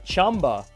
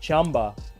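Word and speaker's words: Qanba: if you guys know I'm sorry chamba right that's how we're supposed to pronounce it the proper way chamba um has a new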